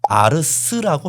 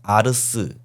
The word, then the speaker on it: ars: 왜냐면 제가 왜 이렇게 보냐면은 라틴어에서 아트를 아르스라고 발음을 했거든요. T가 아니라 스 발음이었어요. 그러니까이 아트라는 말은 한 1500년 1400년에 아르스 아니면 그 더 이전에 아르스라는 말이 변형돼서 프랑스에서 아트라는 말이 된 겁니다.